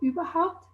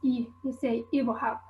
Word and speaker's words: überhaupt: vowels, so for example in standard german you'd say "überhaupt", whereas in south tyrolean the /y/ is unrounded, and it becomes "ibrhaupt", and another feature is